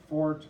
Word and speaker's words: forte: Absolutely, yeah, it's spelled F-O-R-T-E, but it's pronounced fort. If you pronounce it forte, you mean loud. If you pronounce it fort, you mean strength.